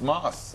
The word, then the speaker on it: Maus: just talking to Moss who was at crackers recently Moss Moss m o s m a SS but it's pronounced but it's pronounced Moss yeah that's correct what